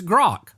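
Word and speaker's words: Grok: So say a word that rhymes with it so I can say it properly. Smok. Okay. or Spock if you're if you're or if you're a Star Trek. Okay. Okay. Look, I got that with Spock. It's Grock.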